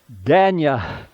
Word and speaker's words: Dania: and I said, man, how do you pronounce your name? And he's like, Danya, or Danya.